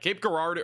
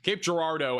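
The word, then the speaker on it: Cape Girardeau: Cape Gardo or Cape Gerardo. Sorry, I keep saying it wrong. Cape Gerardo at this point is mostly going to be I think damaging winds.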